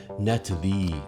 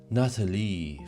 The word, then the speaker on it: Natalie: Oh, if you missed that detail, Trump calls Natalie Nathalie. I'm not kidding. When Trump calls for her, he doesn't say Natalie. He says, "Nathalie." French pronunciation.